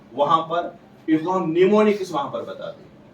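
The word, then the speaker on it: mnemonics: popular known as निमोनिक्स इसकी spelling M से start who A silent रहता है निमोनिक्स इन लजी राइट द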